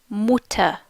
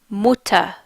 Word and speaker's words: Mutter: members the word for mother in German is pronounced mutter mutter mutter the word for father in German is